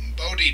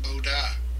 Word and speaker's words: Bode: is uh some some procedures called body diagrams and that's the american way of pronouncing i think and that's just pronounced boda and i did several